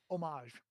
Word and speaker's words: homage: Um uh homage. Right. So homage is spelled h o m a g- e. Begins with a consonant. You would not say a homage. You would say an homage.